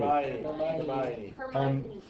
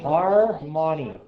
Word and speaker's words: Hermione: Hermione. Hermione? Hermione. Hermione? Hermione. Harmony. Her. Harmony. I thought it was Harmony. It's not Harmony though.